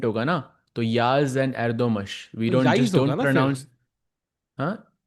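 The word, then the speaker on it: Yağız: entertaining I think for the player but for Yagas it's it's harder he has to hold and also interesting it's pronounced Yaz Chad is letting us know but I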